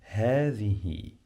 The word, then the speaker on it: هذه: Ha, the, you must pronounce the th like in the word the. Okay, you must touch your tongue with your upper teeth.